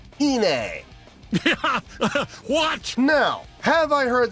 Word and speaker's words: Iine: comments giving me some coaching on how to pronounce this correctly so it's attuned by a Babymetal called Hine watch now have I heard the song before